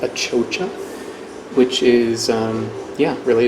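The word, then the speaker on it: achocha: it's a Bolivian cucumber also known as it pronounced a chocha which is yeah really it's a cucumber but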